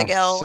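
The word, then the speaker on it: Seg-El: Soon as is it Seg L? How do you pronounce that? Seg L? Is that right? Yeah. Seg L Seg L, yep.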